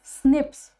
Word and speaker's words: SNP: nucleotide polymorphism and which it is pronounced as Snips okay snps they are